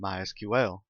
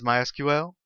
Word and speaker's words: MySQL: As you can tell, I've been calling it MySQL. That is the correct pronunciation. However, it is also commonly called MySQL. If you hear it called that, don't be confused. It's the same thing.